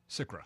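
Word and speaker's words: SCRA: SICRA, yeah.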